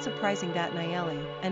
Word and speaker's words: Nayeli: Pronunciation, Nayeli, Nayeli.